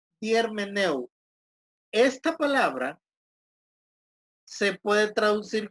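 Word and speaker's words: ἑρμηνεύω: 10 - jermaine él termina el ojo se pronuncia germaneu esta palabra se puede traducir como explicar también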